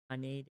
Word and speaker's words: Haneda: I hate how it's pronounced Haneda. Like, sorry, the person in the Boeing video, same way. It's just Haneda.